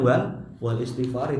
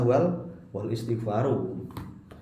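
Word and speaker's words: والاستغفارِ: Wal istighfar, makanya bacanya wal istighfari, tidak boleh dibaca wal istighfaru.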